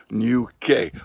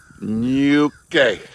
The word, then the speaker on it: Ñuke: It's pronounced nya, like the middle of onion or funyun, right? Or bunion, you know? Yeah, and no silent E, okay? Not a silent E, Ñuke.